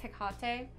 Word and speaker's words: Hecate: It's pronounced Hecate, by the way. Not in the show. I don't give a fuck. They're wrong. They're wrong. Saying. That's not how you pronounce it.